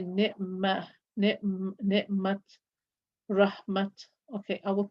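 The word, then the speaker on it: رحمة: And if you are pronouncing it as a ha when stopping, for example, I will say ni'mat, rahmat. Okay, I will pronounce the ta.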